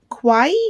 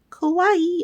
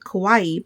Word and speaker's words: kawaii: give me one second Kawaii I had to ask Alyssa okay so how it's spelled is the same as like Hawaii so I always just always said it Kawaii but I'm gonna make